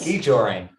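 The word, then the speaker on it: skijoring: ski joring, yes. that's how you pronounce it.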